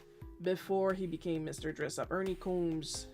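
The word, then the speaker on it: Ernie Coombs: Ernie Combmes if I'm not mistaken. That's how it's pronounced.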